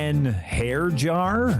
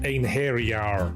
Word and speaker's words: Einherjar: And those are just the ones I can pronounce. Hair jar? It's pronounced Einherjar.